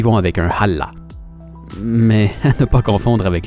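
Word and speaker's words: hallå: y vont avec un allah mais ne pas confondre avec le dieu islamique parce que ça se prononce pas du tout de la même façon ça ressemble beaucoup plus à la salutation hawaïenne aloha enfin en norvège on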